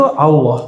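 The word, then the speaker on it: الله: Jadi cara baca Allahnya gimana? Bukan Allah. Allah. Jadi a tapi cenderung kepada U. A cenderung kepada U bukan Allah tapi Al Allah. Bacanya A tapi lidahnya ngarah ke U.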